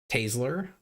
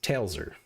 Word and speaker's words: Taylsor: So, the proper pronunciation is tailser. T A Y L S O R. Tailser. Some people mix the S and the L. They flip them and it's tas tasler, which is less severe.